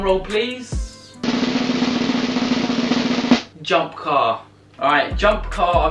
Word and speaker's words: Jump Kar: Alright, Jump Car, I think that's how you say it. It's spelled car, but K-A-R, so I like that.